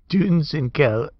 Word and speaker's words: Dunsinkel: U with an umlaut is pronounced U as in foot. So it's Dunsinkel foot. It's Dunsinkel. I hate that stupid word.